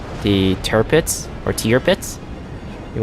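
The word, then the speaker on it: Tirpitz: to your pits you want to call it a tear pits I think I should call it a tier bits I think it's a proper pronunciation for that ship but the tier pits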